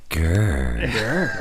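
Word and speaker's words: Ghur: No, that's not right either. No, it's grr. Yeah. That's That's the way we say it.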